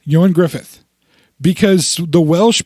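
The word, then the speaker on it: Ioan Gruffudd: Oh his name looks like it should be Ian gruff Ford uh-huh but his name is actually yoin Griffith that's how you actually pronounce it yo and Griffith yo and Griffith because the Welsh pronounced things really really really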